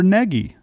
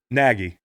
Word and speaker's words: Nagy: Says it can be Nagy, Nagy, or Neggy. And his play sheet, it says on there, BU. He doesn't even know who he is. Man, listen, I like the guy. How do you say his last name? Nagy.